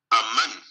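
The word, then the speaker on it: אמן: que es es de una palabra hebrea que se pronuncia aman a man one este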